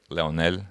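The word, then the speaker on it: Lionel: player like leo messi it's leonel messi right leonel is how you say it um next super bowl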